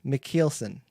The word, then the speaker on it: Michielsen: They pronounce it like Michielse or something like that. Or that's so bad. Michielse, something like that. I don't know. But anyway, I've been always saying Michielsen, and I think that's